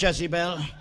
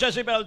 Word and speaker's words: Jezebel: Jezebel, and I will tell you a lot about Jezebel today. Oh, it is no accident that hell rhymes with Jezebel.